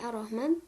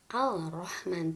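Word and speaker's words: الرحمن: langsung masuk keruk berikutnya pakai tasdid seperti ar-rahman tidak dibaca al-rahman tapi langsung Arum wahman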